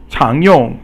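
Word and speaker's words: 常用: And so 常用 is rising tone, which is the second tone, and yong is the fourth tone.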